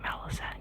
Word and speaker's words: Malazan: The author is Steven Ericson is Canadian and I actually think that he pronounces it at at it as Melazen, but I like to say Malisan cuz that's how I say it in my Australian accent.